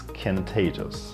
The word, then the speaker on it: contagious: The second useful word that I want to speak about is contagious, right? Contagious. Again, the stress is on the second part.